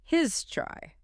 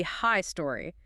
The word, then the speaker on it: history: And pronunciation can be a bit tricky. Sometimes two syllables, sometimes three. Right? You might hear his try or maybe high story that oo can almost disappear.